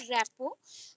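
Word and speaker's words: rapport: रखो, that is called रैपो। रैपोर्ट लिखा गया है बट आप जो प्रोनाउंसिएशन होता है उसको हम मेंशन करते हैं रैपो।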